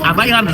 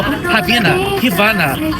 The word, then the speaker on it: Havaianas: no meio da propaganda ela não soube pronunciar a marca Havaianas ela falou Rina Rana tudo menos havaiana então eu quero saber